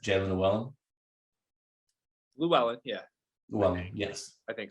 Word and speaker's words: Llewellyn: I think that for this year, Jalen Llewellyn, I'm pretty sure I'm pronouncing that correctly, correct? Jalen Llewellyn? Llewellyn, yeah.